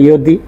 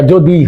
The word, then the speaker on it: যদি: আমরা বাংলায় অন্তস্থ জটাকে উচ্চারণ করি বর্গীয় জর মতোই, এই জন্য আমাদের উচ্চারণে ইয়দি হয় না, যদি হয়।